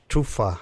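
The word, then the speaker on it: tófa: And Tofa means, tufa, I think is how it's pronounced in Icelandic, but it means fox.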